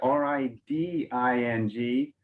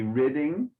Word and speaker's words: riding: So the verb, remember, look at that, R-I-D-I-N-G. You pronounce, if it was R-I-D-D, then it might be ridding, but it's one D, so the I is more open, so riding the beast.